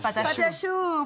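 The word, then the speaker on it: pâte à choux: Okay, you're gonna have to help me with the pronunciation. Pâté à choux. Yes. Pâté à choux.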